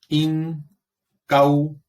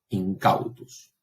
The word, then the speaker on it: incautus: Incautus. Última sílaba, tiene un diptongo. La sílaba es larga, el acento cae allí. Incautus.